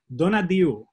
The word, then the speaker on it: Tonatiuh: Donadiu is the Quiche pronunciation of the Aztec name Tonatiuh, which means the sun.